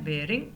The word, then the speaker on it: baring: अब BARING इसकी pronunciation है bearing, not barring.